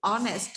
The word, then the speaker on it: honest: here on honest his talent here when you pronounce it honest here before this we use an article yes